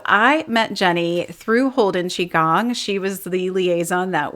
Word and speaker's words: Qigong: The spelling Q I catches a lot of us, especially if we're in the English-speaking world, but yes, Qigong.